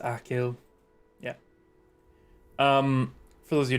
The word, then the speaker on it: Achill: Pronounced Achill.